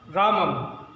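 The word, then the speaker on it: रामं: जैसे राम शब्द है, इसमें अगर मैंने अनुस्वार लगा दिया तो इसका उच्चारण होगा रामम।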